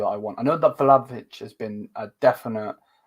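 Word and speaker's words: Vlahović: I know that Vlahovic has been a definite Vlahovic, I say his name, from Juve.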